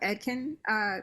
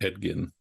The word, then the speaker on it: Edgin: Well, I think one, even what you were saying about Edkin, is that how you say it? I think it's Edgin. Edgin.